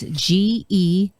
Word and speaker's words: Georgine: Georgine is like George, kind of. It's Georgine.